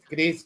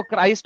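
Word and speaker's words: Christ: shirt फम अबे अबे anti क्रिस्ट की कुछ लगती वो क्राइस्ट होता है क्रिस्ट नहीं होता थो अगर आपको प्रस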